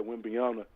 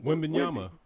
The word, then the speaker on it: Wembanyama: That's why I'm glad Wembanyama, pardon me, I got his name wrong. Wembanyama.